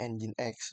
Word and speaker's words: Nginx: Nah, setelah ini di di addd di allow terus di reload dan statusnya sudah muncul di sini port 80-nya ini tuh ada bacanya engine X sebelum ganti ke website kita gitu sebelum clown itu munculnya engine X.